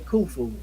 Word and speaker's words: Khufu: that but in most cases you're gonna see Khufu that's k h u f okay so the